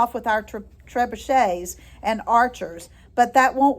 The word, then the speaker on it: trebuchet: Oh, by the way, trebuchet is spelled like tree bucket, Trebucket, but it's a French word, so you pronounce it trebuchet.